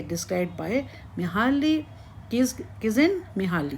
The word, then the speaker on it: Csikszentmihalyi: उच्चारण की जाँच करें, क्योंकि ' C' का उच्चारण—यह पूरी तरह से क्या है? चुपचाप। तो, इसे मूलतः क्या कहते हैं? Csikszentmihalyi.